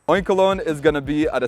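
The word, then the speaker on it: Oinkologne: Like oink, like a pig, and cologne. Oinkolon is gonna be at a CP of 2,819 for the female, and for the male, it's gonna be 2,948.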